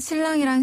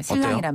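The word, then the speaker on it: 新郎: 중국식으로 바꾸자면 바로 지혜 혼이고 지혜 훈 그렇죠 신랑이랑 신부는 발음이 우리 한국 발음이랑 비슷한 것도 있어요 신랑이란 발음 자 신랑 먼저 신랑 아 정말 신랑이나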